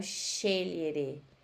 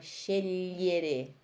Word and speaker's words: scegliere: Então, scegliere. S-C-E tem som de X. Che. I-L-G-L-I tem som de li. Então, é scegliere.